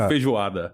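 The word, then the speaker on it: feijoada: I mispronounced it. No, you didn't. You did right. It's called fijuada. Vijuada.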